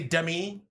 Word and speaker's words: Demi: will come anymore but they say Demi Demi Demi Demi Demi Demi Moore but then it's spelled like semi yeah so it's not to